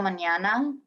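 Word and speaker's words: mañana: until tomorrow is hasta manana the squiggly line of the end that's like you need to say through your nose the n like the squiggly line with the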